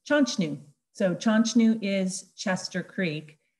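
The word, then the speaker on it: Chanshtnu: to the next slide chonchnu is actually um there was no um chester there was no mr mrs chester uh chester was just a mispronunciat mispronounced mispronounced version of the de nina word the denia word uh is chanchnu so chanchnu is chester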